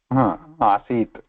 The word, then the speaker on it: आसीत्: Asit.